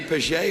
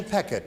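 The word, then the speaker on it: Pechet: Is that Patty Pichet or Peckett? Patty Peckett is her name.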